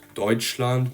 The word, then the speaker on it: Deutschland: If you're going to read the sound TSCH, then you know that it's going to be pronounced like English CH. So if you have the word Deutschland, which means Germany, the syllable is going to be pronounced like the ch in cherry, for example.